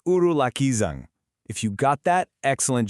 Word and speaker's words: ഉരുളക്കിഴങ്ങ്: That's right, it's urulakkizhang.